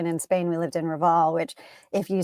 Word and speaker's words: Raval: Yeah, Raval.